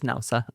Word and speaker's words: Naoussa: It is Naoussa.